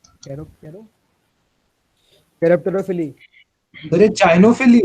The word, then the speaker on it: chiropterophily: Cairo Cairo कैरेप्टरोफिली। अरे चाइनोफिली है। क्या चीज? नहीं भाई, सर कैरेप्टरोफिली।